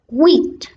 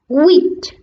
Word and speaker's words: huit: Next, 8 in French is HUIT. HUIT. The H is silent a little. HUIT.